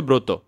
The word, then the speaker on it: ব্রত: আমরা লিখছি এখানের মধ্যে হচ্ছে ব্রত। কিন্তু শুদ্ধ উচ্চারণটা হচ্ছে ব্রত।